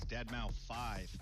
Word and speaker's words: deadmau5: is your good friend joel professionally known as deadmau5 yes that is the correct way to pronounce it tell your friends we're here to